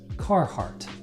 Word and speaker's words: Carhartt: rest of the world and we call this Carhartt car heart Carhartt born along with a clothing